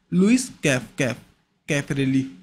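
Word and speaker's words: Luis Caffarelli: उसी तरह लुइस कैफरेली, cafe, इसको इस तरह प्रोनाउंस करना भी देन आपके दिमाग में फिट हो जाए।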